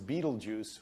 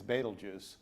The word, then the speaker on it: Betelgeuse: And so many Americans pronounce it as Beetlejuice when it's Betelgeuse.